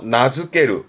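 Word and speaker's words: 名付ける: 그래서 나즈케르. 말 그대로 이름 붙이답니다. 나즈케르. 이름 붙이는 나즈케르. 날짜가 붙었네요.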